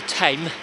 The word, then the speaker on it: Thames: a predicament so then I came into ten I think that's how you pronounce it is spelled Thames without yes that's quite busy